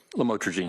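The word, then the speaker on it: lamotrigine: about the u the lam otherwise known as lamatroine. Did I pronounce that right? Lamotrogene.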